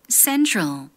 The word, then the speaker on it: central: travel, central, traffic.